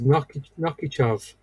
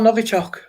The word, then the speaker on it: Novichok: I think I'm pronouncing it right anyway. I thought it was Nokichov. Nokichov? God. That's down in Salisbury, yeah. Oh, Novichok.